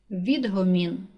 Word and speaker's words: відгомін: падає на перший склад відгомін наголос падає на перший склад чіткий наголос падає на